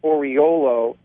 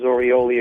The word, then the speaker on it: Oriolo: Just search my name, folks, and it's pronounced Oriolo. Don't listen to Florentino when he goes Orioli, Olio. There's only 3 O's in it.